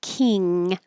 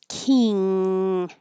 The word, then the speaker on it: king: It's like an ng combination and that means that the back of your tongue is going very high. So when you say king king, it's pushing the air to go through the nose instead of the mouth and make it more nasal.